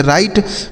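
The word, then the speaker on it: right: आर से हो जाता है दोस्तों र। इस आई का उच्चारण आई कर देना है। और जी एच टी से ट। इसे पढ़ेंगे राइट मतलब क्या होता है?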